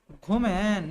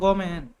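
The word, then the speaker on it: ごめん: ঘুমেন না গমেন Gomen. Gomen. ごめん。 Gomen. গমেন sorry গমেন すみません。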